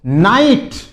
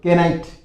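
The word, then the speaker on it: knight: फिर देखो नाइट। यहां पर के साइलेंट रहता है। इसको क्या बोलते हैं? बहादुर या योद्धा। बहादुर योद्धा। नाइट। बहुत से बोले केनाइट केनाइट नहीं होता है नाइट इसमें के साइलेंट रहता है फिर देखिए नो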